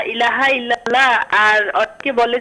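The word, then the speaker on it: إلا الله: রাহমাতুল্লাহ সঠিক তো পরেরটাই যেহেতু লামে আল্লাহর আগে যদি জবর বা পেশ হয় তাহলে লামে আল্লাহ মোটা করে পুর করে পড়তে হয় ইল্লাল্লাহ এটাই হলো সঠিক উচ্চারণ মানে এক কথায় ব্যাকরণগত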